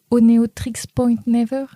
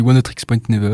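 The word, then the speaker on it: Oneohtrix Point Never: a été faite par Oneotrix Point Never. Ouais, c'est une bonne prononciation. Moi, je le dis Oneotrix Point Never, ou on peut l'appeler OPN pour les familiers.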